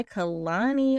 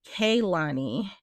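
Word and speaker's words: Kehlani: For Best R&B Performance, Folded by Kalani. Okay, Kate. Oh wait, it's Kaylani, right? Kaylani. I think that's how you say her name.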